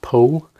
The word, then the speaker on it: Anthony Powell: this one venusburg by anthony pohl it's spelt powell pronounced pole this is his first